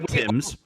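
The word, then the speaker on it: Thames: that is not fair that's the river Tims it's spelled t h mes Worcester Worcester we we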